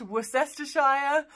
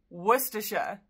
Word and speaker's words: Worcestershire: Famous for the sauce, this place name isn't pronounced Worcestershire or Worcestershire. It's pronounced with just three syllables. That's Worcestershire.